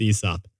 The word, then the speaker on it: Aesop: by the way Jack we should say ESOP I actually think the pronunciation's ESOP really an Australian Yeti pointed